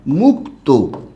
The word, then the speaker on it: মুক্ত: আছে কয়টা 10 টা যদি এই কারহীন কোন যুক্তবর্ণ শব্দের শেষে থাকে তাহলে মনে রাখতে হবে শেষে ও উচ্চারিত হবে যেমন খেয়াল করুন আমি একটা শব্দ লিখলাম মুক্ত এই যে শব্দটা যে